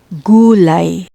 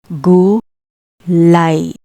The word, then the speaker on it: gulay: For I, when you see this in a Tagalog word, remember, the pronunciation is I, not A. I, like gulay, gulay, gulay, meaning vegetables.